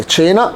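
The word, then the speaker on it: Cina: طب تشي واي تشي، زي مثلا تشينا. طيب الاي عندنا مثلا تشينا. الفرق بينهم هما الاثنين ما فضلش الاي والاي، هنا فتحت التشي وهنا كسرت التشي، يبقى التشي والتشي، تشي وتشي. يبقى عندي مثلا تشينا، عندي تشينا.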